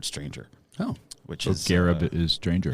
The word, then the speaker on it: Gharib: That kind of, and it's Gharib, not Gharib. I remember the correct pronunciation is Gharib, but even my dad, he says it's Gharib. It's Gharib. It's Gharib calling him like, say it right, Dad.